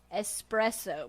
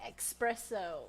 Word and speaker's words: espresso: I said it wrong now I have to make it a point when I say it to say espresso because there's no X because I used to say espresso and they would be